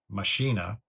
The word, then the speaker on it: Machina: Correct me if I'm mistaken, but I'm pretty sure it comes from Latin. Also, because the subtitle is The Machines of God, which machina actually means, that's what